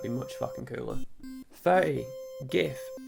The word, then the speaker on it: Gith: 30, GITH. Controversially not pronounced GIF.